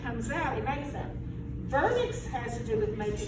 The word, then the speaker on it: Wernicke: It's a W, but it's pronounced as a V. It's German. Jeremy. But it's vernix. I always heard it as like Wernicke.